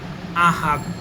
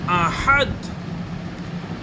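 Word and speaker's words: أحد: আর এই আয়াতের লাস্টের যে ভুলটি আমরা করে থাকি, আমরা পড়ে থাকি আহাদ আহাদ। এটাও ভুল। সঠিক উচ্চারণ হলো আহাদ আহাদ।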